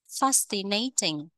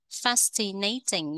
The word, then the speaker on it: fascinating: Fascinating. Fascinating. Nhấn âm một.